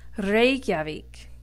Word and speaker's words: Reykjavík: The second word goes right along with that, and it's Reykjavík. Remember to roll the R. It adds an authentic touch.